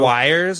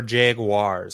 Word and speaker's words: Jaguar: jaguar guy dustin jaguar does anybody call them the wires they're the jaguars are they yeah i always thought they're the jaguars that you're pronouncing it at your hoity-toity like just pronouncing that you're not doing the uars or the w-i-r-s w-a-u-r-e-s if you actually go to the car company's website and you listen to them what about uh legends